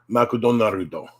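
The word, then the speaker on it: マクドナルド: It would be put into katakana, and it's pronounced makudonarudo.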